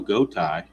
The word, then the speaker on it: Gotay: 2 outs for the shortstop, Julio Gotay. Rhymes with bow tie.